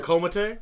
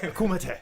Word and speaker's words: Kumite: He looked like he'd stepped off of a martial arts set somewhere filmed out of a Komate? Yeah, Kumite. Kumite? Yeah, pronounce it properly. Okay, it's Kumite. Kumite.